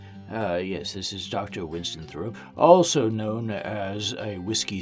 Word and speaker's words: Thoreau: How do you pronounce? Close enough. I'll take it. Anyway, I'm just messing with him. Yes, this is Dr. Winston Thoreau, also known as a whiskey sourpuss.